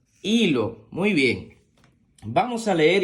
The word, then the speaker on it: hilo: delante porque que Recuerda que la H es muda la H con la i suena I la l con la o suena lo y lo hilo muy bien Vamos a